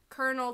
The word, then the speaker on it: colonel: Colonel, colonel, what do you prefer? Colonel. Colonel? Mm-hmm. Like a popcorn kernel? Colonel, yeah, that's how it's K-E-R-N-E-L. That's how it's pronounced.